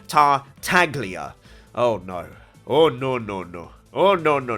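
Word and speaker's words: Tartaglia: pretty passive aggressive and telling me that i'm pronouncing tartalia incorrectly and that it should be tar taglia oh no oh no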